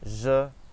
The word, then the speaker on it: je: So we say je and page, je and page.